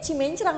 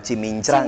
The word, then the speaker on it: Cimincrang: betul Jadi sebetulnya ee nama yang benar itu heeh menurut ee apa pelafalannya adalah Kelurahan cimincrang ya cimincrang Yain Oh baik baik baik cimincrang tetapi orang banyak ee mengatakan cimencrang betul saya pun Sebelum